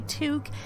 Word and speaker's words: toque: For those of you who aren't Canadian, a toque is like this fluffy knitted hat with a ball of fluff on the top of it.